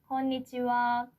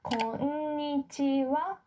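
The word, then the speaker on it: こんにちは: And if you read hiragana, konnichiwa, this wa is spelled with hiragana ha, right?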